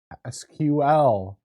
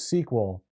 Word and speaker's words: SQL: We're going to be learning about SQL, also known as SQL. The weirdos pronounce it SQL, and us cool people pronounce it SQL.